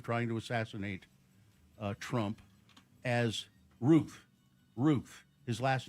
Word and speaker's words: Routh: I know it's spelled like Routh, but he says Ruth. Everybody else is saying Ruth. And then you, who apparently have heard everybody all morning, you say Ralph.